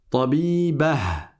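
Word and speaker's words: طبيبة: Tabibah. Attention, ne prononcez pas à la française en omettant le ha. C'est pas tabiba, tabiba.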